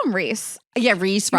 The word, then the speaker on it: Rysand: I call him Reese. Yeah, Reese You call him Rice. Rysand? Well, I listened to the audiobook at a point so I could get the pronunciation, and I think it's like Rysand.